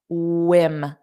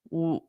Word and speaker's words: whim: Whim. Notice that pronunciation. For the W, you need your rounded lips. Whim.